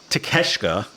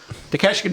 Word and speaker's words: Takeshita: Konosuke Takeshita, and I told Lynn because she was sitting next to me. I go, if you pronounce his last name the way it's spelled, it's Takeshita.